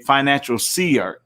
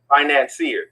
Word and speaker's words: financier: has given you, and that you are a financial seer. Did I say it right? Financier.